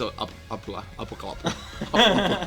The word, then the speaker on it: Apocalyptica: But though we have now like a record company based in London and New York, none of them can pronounce Apocalyptica. It's Apocalyptica.